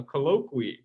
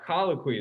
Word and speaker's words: colloquy: command from a general you want a colloqui uh colloquy is how you pronounce that so a conversation right